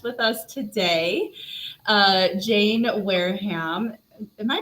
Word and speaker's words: Wareham: special special guest with us today uh jane wareham am i pronouncing your last name right is that it yeah wear them wear him it's like okay and uh we are talking